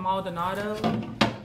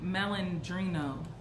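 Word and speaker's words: Malandrino: and these are catherine maldonado i think that's how you pronounce her brand lord it's catherine melandrino i said maldonado this is a pretty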